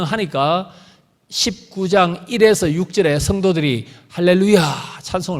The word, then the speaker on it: 할렐루야: 이 아이의 있습니다 예 할렐루야 아야는 여호 아닙니까 맞죠 여호와를 찬양하라 야 예 악센트를 했습니다 할렐루야 할렐루야 이게 정확한 발음입니다 이게 시편의 는 많이